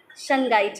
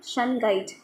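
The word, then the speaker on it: Shungite: बाहर आने में आपके लिए क्रस्टल आया वस सन गाइड का ठीक है स्पेलिंग है इसकी एस एच यू एन जी आईटी सन गाइ य ब्लैक कलर का क्रिस्टल है सन गाइड एस एच यू एन जी आई टीट ठीक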